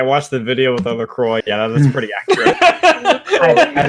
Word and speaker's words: LaCroix: that one video the it's pronounced Lacroix and he starts breaking it